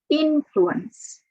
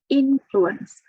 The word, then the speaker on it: influence: change or affect something the stress is on the first syllable influence influence my parents greatly influenced me